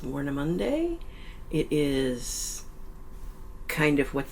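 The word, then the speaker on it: Warnemünde: We are in, I think it is pronounced Warnemunde.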